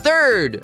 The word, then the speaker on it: third: A gente começa colocando a pontinha da língua entre os dentes para fazer o som do TH. E o que vai acontecer com a nossa língua na letra R? Isso mesmo. A gente vai enrolar a língua nessa letrinha.